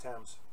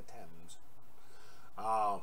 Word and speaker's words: Thames: didn't explode so things it's pronounced attempts it's pronounced Thames okay okay okay tens friend of my ex